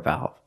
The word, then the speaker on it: valve: say the the shower valve but if it's not the only one use the article a this is a shower valve pronunciation valve use the short a sound like black cat valve this thing is called